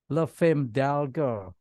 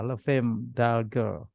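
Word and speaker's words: Les Femmes d'Alger: Le Femme d'Alger. Nggak tahu bahasa Prancisnya gimana bacanya. Setahu saya S-nya nggak dibaca. Le Femme d'Alger.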